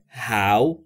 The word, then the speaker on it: how: و توجه ب کنید نحوه درست تلفظ ها ی به همین صورته هو ی ی یا هر چیز دیگری نیست دوستان خیلی دیده میشه زبان آموزان اشتباه تلفظ میکنن به این صورت تلفظ بکنید ها او او ببینید ی در